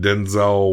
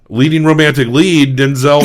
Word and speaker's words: Denzel: But we really missed more leading romantic lead Denzel Washington. Yeah. Apparently his first name may be pronounced Denzel. Oh. But we all call him Denzel. I don't think it matters that much.